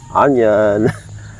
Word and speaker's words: onion: So I have here some bunch of garlic and of course onion. I said onion even though it is started with the vowels of o and in real English it is said ah that's why I called